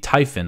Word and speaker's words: Typhon: they're sending these missiles it's the tyen I guess that's how you pronounce it Ty P ho n but it launches the